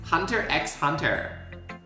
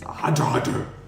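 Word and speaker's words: Hunter × Hunter: Or Spy Family, for anyone who's going to get upset at the fact I pronounce the X. Like it's Hunter X Hunter. It's Hunter Hunter.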